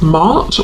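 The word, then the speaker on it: Maat: And I'm noticing the feather, which is making me think of the Egyptian goddess Mart, or Mat, depending on how you pronounce it, who is about truth.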